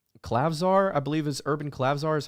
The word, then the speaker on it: Klavzar: And then they had another guard, I think it's Klavzar, I believe is Urban Klavzar is how you pronounce his name.